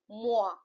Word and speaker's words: moi: OI, I explained you, OI is oa. So the pronunciation here it will be boa, right? Like other example we have MOI, moa, TOI, toa, TROIS, throa, right?